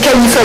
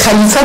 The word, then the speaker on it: Khalifa: Si vous voulez prononcer en français, c'est Khalifa TV. Si vous voulez prononcer un peu en arabe, si vous pouvez faire du c'est Khalifa TV.